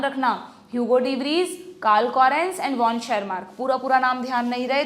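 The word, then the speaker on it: Tschermak: Hugo रिवरीजो एंड वॉन शेर mark पूरा-पूरा नाम ध्यान नहीं रहे तो डी वरीज कोरेंस और शर मार्क याद रखना टी साइलेंट है यहां पे हम और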